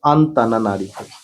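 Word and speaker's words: Antananarivo: মাদাগাস্কারের রাজধানীর নাম হচ্ছে আন্তানারিভৌ উচ্চারণটা দিলে আন্তানা নারীভ ন্যাটো কোন ধরনের যুগ?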